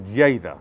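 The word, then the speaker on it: Lleida: town of lerita or Jada as it's pronounced in Catalan is biodynamic now that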